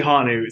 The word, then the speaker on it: hanu: what does that mean it's actually hanu so yeah it's pronounced it's pronounced which is Hawaiian for breath what does turtle mean